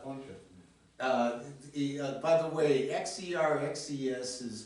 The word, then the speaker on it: Xerxes: There's a bunch of By the way, XERXES is pronounced Xerxes.